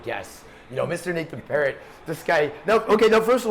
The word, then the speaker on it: Perrott: I say Nathan Perrott. Phonetically it should be Perrott, but I go with Perrott.